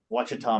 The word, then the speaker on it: Ouachita: Forest, the Hardwood Forest, the Ouachita Mountains, spelled with an O, and cypress swamps and forests.